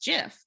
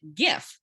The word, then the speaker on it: GIF: computer days and so because graphic has that hard g uh many people i get start would pronounce it gif to kind of hold